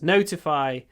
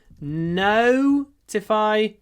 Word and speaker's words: notify: to send you notifications so to notify notifications notify the stresses on the first syllable notify don't forget that there is a that no